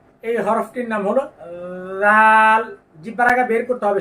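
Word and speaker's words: ر: দেখেন এই হলো জিহ্বার আগা তার পিঠ তার বরাবর উপরের তালুর সঙ্গে লাগবে র র র আপনি আয়না দেখে দেখে বলুন এরকম যেন না হয় র বা রা এরকম যেন না হয় সঠিক উচ্চারণটা আরেকবার লক্ষ্য করুন র তারপরের হরফটি লক্ষ্য করুন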